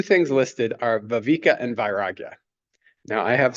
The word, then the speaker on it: viveka: So viveka, some people say viveka. Viveka, I believe, is the correct way to say it.